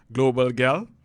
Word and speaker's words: Global Gyal: She is better known by her online persona, Global Gyal. Did I do that right, Alyssa? You did. Not many people outside of the Caribbean do, so it's nice to hear it pronounced correctly.